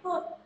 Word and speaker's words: could: Kemudian we could, bukan could Khalifah, bukan could, katanya bukan could, tapi could, ya kan? Penekanan akhir tadi sudah saya jawab, penekanan akhir aja, bukan we could, tidak pakai L bacanya, we could eat at home today, ya gitu seperti itu.